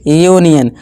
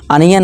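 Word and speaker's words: union: जैसे कि यूनियन, अनियन नहीं यूनियन पढ़ेंगे। इस तरह से अनीक नहीं यूनिक, इस तरह से यूनिट पढ़ेंगे, अनिट नहीं।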